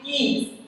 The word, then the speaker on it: Gies: It's actually geese. Geez. Okay. The same as animal.